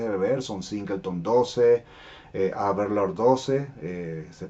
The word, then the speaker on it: Aberlour: Así que otras opciones que considero como botellas de entrada porque son fáciles de beber son Singleton 12, Aberlour 12, se pronuncia Aberlour o Aberlour, pero la podemos llamar simplemente Aberlour, Cardu 12,